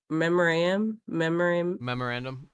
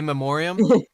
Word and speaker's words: memoriam: cinema in the memor memorandum. It's like there's no B in it. Well, there's no a memoriam. Memoriam. There you go.